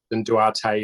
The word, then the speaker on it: Duarte: an American commentator thing Duart versus Duarte no idea how to pronounce that one Duarte is culturally proper well it could be